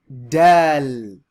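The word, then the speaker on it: دال: Dal. So this is like the D. D as in dad, dome, done. Right? So this letter is pronounced dal. And that last sound is like an L, like D-A-A-L.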